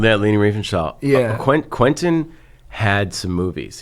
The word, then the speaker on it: Leni Riefenstahl: Yeah, Leni Riefenstahl.